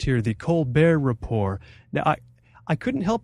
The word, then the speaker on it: The Colbert Report: make it on and i'm gonna use the pronunciation that's correct here the colbert report now i i couldn't help but feel my